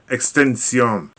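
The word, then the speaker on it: XXXTentacion: by the name of XX xtension let me spell that out that's XXX t e n t a c i o n extension right anyway this rapper he not only just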